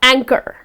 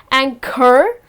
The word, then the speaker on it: anchor: They are the anchors and here again, if you see the H comes in the middle of the word, however it goes silent, when you pronounce the word, it’s just gonna be, she is an excellent anchor. It’s not anchor, but it’s just anchor.